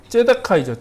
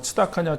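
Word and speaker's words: צדקה: 발음이 여러 가지로 이제 뭐 츠다카냐, 째다카냐, 뭐 발음이 여러 가지인데 그건 남성형이냐, 여성형이냐, 뭐 이렇게 그 변이에 따라서 이제 발음이 달라지는 거라고 생각하시면 되고 보통은 이제 째다카라고 이제 발음을 하는데 그게 이제 공의입니다.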